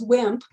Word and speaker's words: WHMP: white heterosexual male privilege, WHMP, pronounced as WIMP, which I thought captured